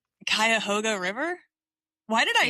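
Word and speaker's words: Cuyahoga: The Quoga River. It's the Kaoga River. Kayahoga River.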